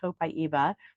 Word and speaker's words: copaiba: tree that's 100 feet tall and it is pronounced copaiba my friend Lisa and I met some people